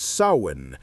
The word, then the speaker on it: Samhain: And at the heart of their spiritual calendar was a festival that would echo through the millennia: Samhain. Samhain. Pronounce it Samhain and let the words settle in your mind.